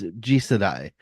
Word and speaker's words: Jisedai: It's okay. It's Jisedai. It's Jised. In Japanese, it's second generation, or colloquially next generation. Okay, I was trying to